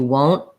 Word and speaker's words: won't: So you might not even hear that T at all. You won't hear it, won't. But what I do is I make that N sound very short. I can also say won't. I won't. If I'm saying just that word and ending on the word won't, I might use a little T. More often though, I won't. I'll just say a short N.